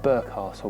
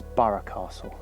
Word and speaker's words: Burgh Castle: like to call it burke castle but i'm reliably informed that the norfolk pronunciation is borough castle here it is it's